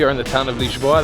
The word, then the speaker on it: Lisboa: in the town of leash law that's how it's pronounced in Portuguese and today I'm going